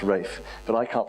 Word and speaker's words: Ralph: name is rafe rafe r-a-l-p-h is pronounced rafe but i can't pronounce